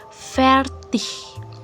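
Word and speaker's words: fertig: Kemudian G. akan dibaca H bila berada di akhir kata. Contoh ferth, ferth, fertinya sele selesai.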